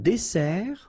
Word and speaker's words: dessert: So, remember that we've got here two S. Okay? That's the reason why you pronounce it S. And then it opens the dessert. Un dessert. So, you don't say un dessert. Okay? But you say un dessert. Final T not pronounced.